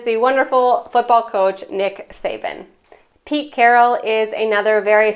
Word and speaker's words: Saban: The next person on the list with Croatian heritage is Nick Saban. And just a note, Saban would really be pronounced in Croatian Shaban.